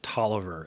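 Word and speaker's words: Taliaferro: a totally weird thing his name is spelled t-a-l-i-a-f-e-r-r-o but they always pronounce it Toliver and I never understood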